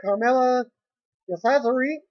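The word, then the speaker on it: Carmella DeCesare: Former WWE diva Carmella cesaro, that's how you pronounce her name, turned 32 years old.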